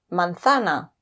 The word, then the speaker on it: manzana: And finally, we've got the Z pronounced like th in thick. Por ejemplo, zapato o manzana.